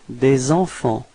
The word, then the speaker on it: des enfants: So it's des enfants. Repeat. Des enfants. Okay, so final T and final S is not pronounced.